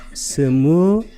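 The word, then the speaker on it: स्मृति: 전면에 마음 챙김을, 이게 아까 사띠, 산스크리트로는 스무리띠, 이건 리로 발음합니다. 스무리띠.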